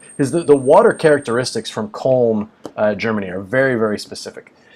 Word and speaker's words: Köln: it has to be from Köln, Germany. And I believe that's how you say it. K-O with an umlaut, L-N. I believe it's Köln.